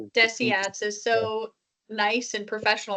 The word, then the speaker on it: DSATS: Sorry, I could just I I still can't get over the way that John said Desiats is so nice and professional. I always pronounce it deceits. Yeah, me too. It's deceit.